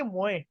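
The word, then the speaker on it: moins: भी हो सकता है मोआ नहीं नहीं नहीं, ये मुआ, इसमें नेजल साउंड आएगा थोड़ा सा। वो मुआ जो होता है उसमें एन नहीं होता, ठीक है ना। तो because of O this N और एस, we because we normally S is silent है ना, और ओ एन को ओके हमने ओके नेजल साउंड, तो इसको मुए बोलते हैं।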